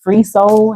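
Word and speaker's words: FR33 SOL: And the artist, his name is Free Soul, and it's spelled FR33 instead of EE. So it's FR33 Soul, SOL, in case anybody wants to listen to the song, to the entire song.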